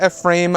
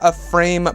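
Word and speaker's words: Ephraim: name now being Ezra a frame Bridger alright I believe that I you pronounce it it's spelled E eh RAIM a very interesting middle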